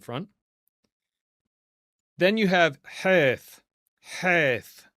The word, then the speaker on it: Heth: Heth. This is that rough H. Okay. And sometimes this will be pronounced with the ch sound as well.